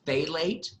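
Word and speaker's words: phthalate: name of it was fate late so it's say late but you spell it as P H P ap th a la te so like but he's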